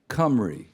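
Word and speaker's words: Cymru: it this is because they live in cry C which means which is the way the Welsh say whales c ym r u cry got it now here's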